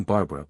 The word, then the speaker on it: Barbra: You see, Barbara wasn't always spelled that way. She was born Barbara, but didn't like it. She refused to change her name because she didn't want a fake name like Joanie Sans, so she just dropped the A. It's still Barbara, but it's different.